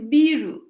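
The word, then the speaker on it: ビール: it's biru, Asahi biru. Oh, it is Asahi. It's Biru. Asahi, yeah. Biru. Yeah, Okay. So that sounds like a Japanese pronouncing beer when they say biru.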